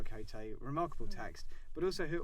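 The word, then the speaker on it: Quixote: Charlotte Lennox good Lord the female cot or the female Cate depend on how you pronounce it I say female cot remarkable text but also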